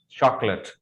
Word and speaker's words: chocolate: The right pronunciation for this word is chocolate. Actually, there is no late in chocolate. Chocolate में late नहीं होता, and that is mispronounced a lot by everybody almost.